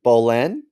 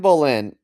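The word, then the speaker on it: Boleyn: Ann Bolan. Bolan. Boline. That's good. That's good. Boline. No, you've got further. Bolin. Bolin. There you go. There you go. And Bolin.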